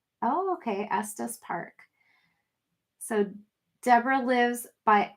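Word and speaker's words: Estes: It's pronounced Estus. Oh, okay. Estus Park.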